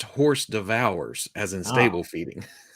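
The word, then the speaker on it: hors d'oeuvres: It's pronounced horse devours, as in stable feeding.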